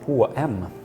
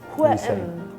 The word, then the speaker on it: H&M: In Sweden, we just pronounce the letters. So H in Swedish is H, and M in Swedish is M. M. So H-M. H-M.